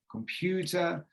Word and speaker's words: computer: look at this word, it says computer, there's 3 syllables. But we work on duration, computer. We look at intensity, loudness, computer, and pitch, computer. Okay, there's 3 parts of the stress, and Japanese seem to